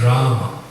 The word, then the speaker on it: Rama: I will tell you, I hear devotee chant Hare Ramo, Hare Ramo, but the correct pronunciation is Rama, Rama. There's an A at the end. Short A.